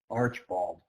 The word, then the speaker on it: Archbald: It's spelled Archbald, and it's pronounced Archibald.